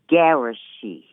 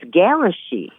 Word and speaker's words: Gishi: Gishi. Gishi. When I first looked at it, Ges. Some say garage, but it's Gishi.